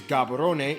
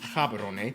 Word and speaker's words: Gaborone: and largest city is gaborone if you speak setswana it's pronounced haberone located close to the